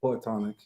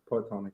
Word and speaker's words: Poetonic: Yeah, so it's like you said, it's Poetonic, Okay. Poetonic.